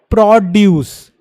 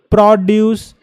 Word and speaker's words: produce: So produce is to make something, but produce, what is pro? If you emphasize on the first syllable, produce, not produce.